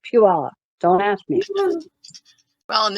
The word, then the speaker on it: Puyallup: You know, we have Puyallup, but it's spelled Puyallup. So when you look at it, you think Puyallup, but for some reason they move that Y and the U, and it becomes Puyallup.